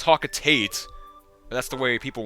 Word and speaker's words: Hocotate: I always pronounce hwat wrong I know it's pronounced hocotate but that's the way people want it to